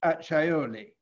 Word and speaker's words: Acciaioli: buying in your name the castle of Acciaioli, pronounced Acciaioli, between Florence and Siena.